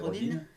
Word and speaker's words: Rodin: ça s'écrit Rodin, mais ça veut être comme elle est américaine, c'est Rodin.